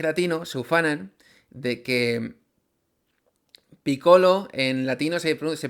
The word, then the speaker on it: Piccolo: Los japoneses no hacen la L, hacen siempre R. Es decir, si te llamas Lolo y vas a Japón, pues a lo mejor te llaman Roro. Bueno, este es el origen de por qué eh Piccolo se pronuncian en en algunas partes piccoro y en otras Picolo. Como he dicho, lo correcto quizá en este caso es decir Picolo, que es el origen del nombre.